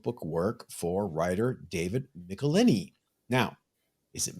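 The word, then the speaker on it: Michelinie: michelini now is it michelini is it michelini is it Mitchell line I was always taught from the Marvel Bullpen bulletins page that it's pronounced nicolini rhymes with tickle my knee that's what they wrote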